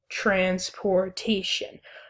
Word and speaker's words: transportation: And the way the syllables break down for that is you would say transportation. So as you can see, we have the first and third syllables stressed and the second and fourth syllables unstressed.